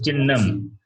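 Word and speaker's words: चिह्नम्: It is chinnam. When you pronounce that, hakara also will take the sound of nakara. So it becomes chinnam.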